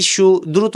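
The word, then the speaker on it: صاد: পড়তে থাকবেন তারপরে আমরা সদে যাচ্ছি সদ হচ্ছে তিন আলিফ টান হবে এবং এই সদ কিন্তু মোটা সদ হরফটা মোটা হবে সদ পড়ার সময় জিবাটা থাকবে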